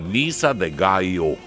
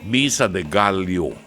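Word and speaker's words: Misa de Gallo: diyan Misa de gayo sa ating mga Pilipino ang pronunciation natin diyan Misa de galo ah kastilyo di ba Ah galo ah Ano nga yung chicken sa ano polyo sa atin dito di ba ang pronunciation niya ng mga Kastila gayo B gayo poo poo ano sige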